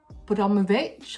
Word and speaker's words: Abramovich: So the owner of Chelsea Football Club, called Roman Abramovich, I believe is how you say it, he owns this place.